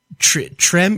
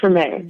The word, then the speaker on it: Treme: to pronounce it, but is it Trem? You would know better than me, obviously. It's Treme.